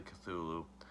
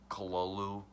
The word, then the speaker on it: Cthulhu: always said to Lou I know it's also pronounced Cthulhu mostly Cthulhu I don't love craft himself pronounced as colo Lou that kind of gets a little twisty to say sometimes I'm just gonna say I'm just gonna say Cthulhu because that's what I've always said so this is not